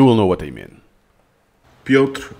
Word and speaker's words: Piotr: the audio, you will know what I mean Piotr Wozniak. Piotr Wozniak, Piotr Wozniak. Most of the time I say "Pioter" I'm adding schwa, a sneaky schwa there because "pioTR" and no vowel I don't know if does